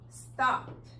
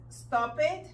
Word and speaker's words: stopped: Entonces, no es stop it, no es work it, no es wash it y no es walk it, porque la letra E es muda.